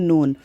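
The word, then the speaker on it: known: ई डब्लू न्यू and third form है के एन ओ डब्लू एन नोन यहां पर के साइलेंट है 64 नंबर एल ए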